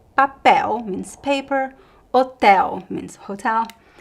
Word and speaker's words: papel: So if there is no graphic accent anywhere else in the word, you know that the stress is at the end. Papel, hotel, anel, farol, lençol, futebol. The other syllables are unstressed, okay?